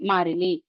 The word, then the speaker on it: மாறிலி: அடுத்து மாரிலி இந்த வார்த்தைய கரெக்டா உச்சரிங்க மாறி மாறிலி.